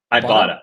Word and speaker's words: Ibotta: Ibotta, like Ibotta blank.